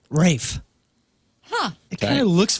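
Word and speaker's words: raphe: The rape. No. Pronounced just like our dear Rafe Williams.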